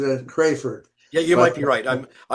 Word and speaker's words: Crafard: I've been pronouncing it Crayford, Yeah, you might but be right. I'm sorry. I really don't know. that's okay. It's Crafard.